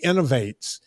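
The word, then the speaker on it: Inov-8: Folks, it's a European company and it's spelled okay, INOV and then the number 8. right. Yeah. Oh, Innovate. I loved them.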